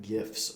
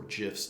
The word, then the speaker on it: GIFs: You can create GIFs or GIFs, depending on how you say it, right inside of Canva with just a touch of a button.